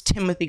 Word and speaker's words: Timothée: with Timothée Chalamet, which I know it's Timothy, guys, but look how it's spelled. I mean, Timothée sounds cooler, but Kylie Jenner claims she's never been in love like she is with Timothée.